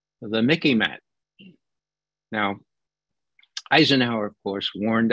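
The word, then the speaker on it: MICIMATT: not the mick but the Mickey mat remember it it reminds it's rhyme sort of with Mickey Mouse okay I'll spell it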